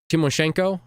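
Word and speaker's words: Tymoshenko: oops this guy uh from timoshenko maybe the t is silent I'm not sure uh from prison and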